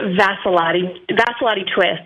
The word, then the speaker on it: Vassalotti-Twist: It's Vassalotti-Twist, actually. We got the maiden name and the married name both in there.